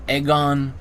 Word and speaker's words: Egon: I've also heard instead of Egon Aegon so uh or Aegon yeah Egon Aegon a or I don't know anyway Egon Shile is